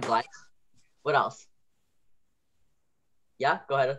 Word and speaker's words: gleich: So any other notes for gleich, schaltung? Yeah, Ria? The E-I. E-I, yep. E-I making the I sound, glide.